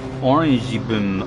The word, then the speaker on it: Orange Boom: Orange Boom, pronounced Orangey Boom.